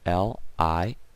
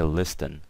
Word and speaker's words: listen: And this is someone listening, so the word listen, L-I-S-T-E-N. Obviously, the T is silent, guys, okay? So we never say listen, okay? We always say listen, okay?